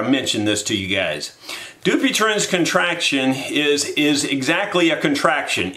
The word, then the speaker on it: Dupuytren: It's known as Dupuytren's contraction. At least that's how it's pronounced in the television commercial that I see, and I've seen the commercial maybe three or four times.